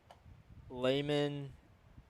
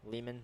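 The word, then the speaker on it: Lehman: Layman I think that's how you say it. L E H M- an Leman.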